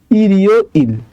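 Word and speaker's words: 일요일: চলে যায় ঠিক আছে নিচে যদি বাচ্চিম থাকে তারপরে যদি ইয়ং থাকে তাহলে বাচ্চিমটা ইয়ং এর জায়গায় চলে যায় তাহলে এটার উচ্চারণটা কি হবে ইরিও ইল ইরিও ইল মানে হচ্ছে রবিবার ঠিক আছে তো এটা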